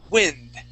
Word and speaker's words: wind: But this word is the noun. Okay, this is wind.